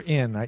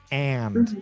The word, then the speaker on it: and: you say and or in it sounds like you're saying in for lunch and okay so so what you're saying what I'm hearing is when I should hear ah like apple and and for lunch and